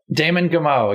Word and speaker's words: Damon Gameau: I was watching 2040 by Damon Gameau. I believe, is that how you say it, Brian? Damon Gameau? Damon Gameau.